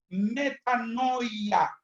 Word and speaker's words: metanoia: y no peques más, es la palabra metanoia, así como se escribe. M-E-T-A-N-O-I-A en griego.